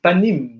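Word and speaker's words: פנים: But here is panim, not pnimi.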